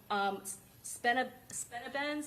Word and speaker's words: Spinabenz: Heard some of the drill rap from Spinabenz, is that how you say it? Yes, I've heard the drill rap from all of them.